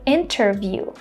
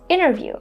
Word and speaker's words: interview: Instead of saying this letter T, they just drop it and say internet, interview.